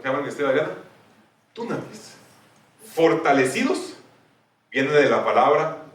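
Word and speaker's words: δύναμις: Dunamis es porque es con una Y, entonces se pronuncia du, pero es como dinamita.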